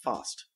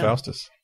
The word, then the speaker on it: Faust: Little silent movie from 1926, Faust. Faust. Faust. However you want to say it. No, it's pronounced Faust.